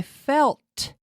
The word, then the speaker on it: felt: this pronunciation is because I want to hear that tea I felt felt felt did you feel fine